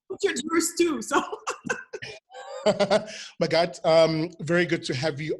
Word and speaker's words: Magatte: Magatte, hello, hello. Hey, Sifli, it's Magatte, but it's all good.